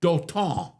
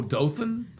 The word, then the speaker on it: Dothan: The first time we went to that uh town in South Alabama called Doon." I said do. Yeah. Do O T A Oh, Dothan.